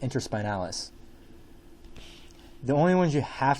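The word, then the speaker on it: interspinalis: be the inter spinals so it's called It's pronounced inter spinalis the only ones you have to know on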